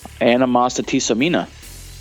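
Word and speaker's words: Animositisomina: punk you know um does anybody want to take a shot at pronouncing the name of the next album animasa tiamina okay well five stars insert clapping sound here my prononciation or the actual album no the the actual like the way you said it you said it perfectly like you've been listening to it for years I have been listening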